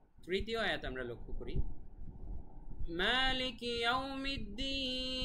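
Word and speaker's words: مالك يوم الدين: মালিকি, এখানে এক আলিফ টান মা, তারপরে ইয়াউমিদ্দিন, এটা তো আগেই বলেছি প্রত্যেকটা আয়াতের শেষেই 3 আলিফ টান।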